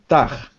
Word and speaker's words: tag: So the problem is that the G is a hard G. Tag. Tag. Yes. Not G, but G. Tag. Tag. Because you've got to close your throat. Instead of a R, it's a G, like gum.